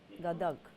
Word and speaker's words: गदग: क्या स्पेलिंग है? गदर, GADAG, गदग, DAD।